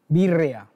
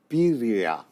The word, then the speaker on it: birria: Start with, I pronounced this incorrectly. Birria. Birria. Birria. I'm or birria. Pretty close. Birria is good. Birria. Birria. You got to roll the tongue.